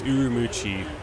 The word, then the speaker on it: Ürümqi: how it's written or it's kind of written like that but it's missing the M or it's missing the U after the M MO that's